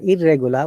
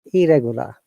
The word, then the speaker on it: irregular: We don't say irregular, we say irregular.